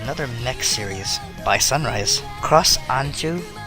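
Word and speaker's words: Cross Ange: Cross Anju, I believe is how it's pronounced, but it's spelled A-N-G-E, is a completely wasted opportunity.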